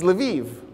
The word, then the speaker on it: Lviv: You've heard Lvov in the news lately. It's Lviv, because that's how the Ukrainians pronounce it.